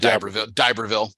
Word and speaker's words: D'Iberville: They call it D'Iberville. That's how they say it, D'Iberville.